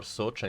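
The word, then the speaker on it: Soča: Yeah, it is pronounced Isonzo in Italian or Socia in Slovene.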